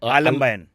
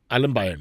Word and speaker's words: Aalambayan: Aalambayan. Aalambayan.